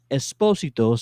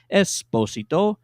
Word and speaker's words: Esposito: matter you say well when we interviewed giancarlo esposito sorry i said it wrong the first time esposito he actually dropped the bomb on everybody that